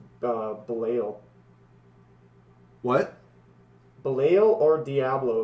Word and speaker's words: Belial: Okay, it Fine, is Belial. Ball. It's Belial. His But- name is but- pronounced but- Belial.